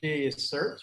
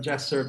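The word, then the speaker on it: JaCIRT: Currently, we pronounce it JACERT, but JACERT works just as well.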